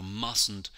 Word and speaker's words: mustn't: The T here in the middle, you write it, but you don't hear it when you say the word. You mustn't do something.